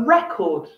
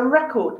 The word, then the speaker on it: record: record of the meeting we pronounce the first syllable the first part when it's a noun a record do you have a record of the meeting but if we use the same word as a verb did you record the conference notice did you record i'm emphasizing the second syllable record this is a really